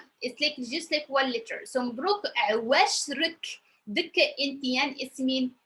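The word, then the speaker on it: مبروك: So the first one is pronounced Mabruk, Mabruk, Mabruk, because we have the O, and I know for people who are new, they said, oh my God, 3 consonant, no vowel, and I know it's a little bit hard.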